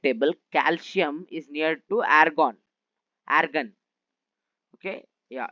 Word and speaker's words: argon: Suppose if you see in periodic table calcium is near to argon. Argon. Okay. Yeah. Its pronunciation is argan.